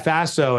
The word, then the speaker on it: FASO: more about that yeah Faso it rhymes with lasso and it stands for